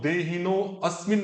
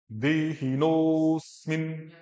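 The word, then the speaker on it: देहिनोऽस्मिन्: तो देहिनो अस्मिन नहीं बोलना है, अ नहीं बोलना है, देहिनोस्मिन, नोस्मिन, नो अस्मिन नहीं, दोनों प्रोनाउंसिएशन का देखो, नो अस्मिन, एक नोस्मिन।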